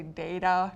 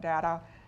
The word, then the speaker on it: data: I have acorn, basic, fatal, agent, I'm going to say data, not data, apron.